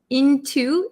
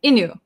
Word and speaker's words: into: talked me into going into into but if we're going to say very quickly we might skip over the T sound in into so sometimes when we talk fast it sounds like Inu Inu my friend talked me